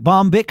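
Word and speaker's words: Bombich: of the sponsorship thanks to the folks at bomic software that's how it's pronounced b o m b i h bomic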